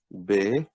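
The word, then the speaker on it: بے: And B in Urdu is pronounced Be.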